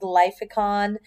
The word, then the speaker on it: Glyphicon: on glyphicon buttons next that's such a weird looking word but lyficon is how you pronounce it basically what they are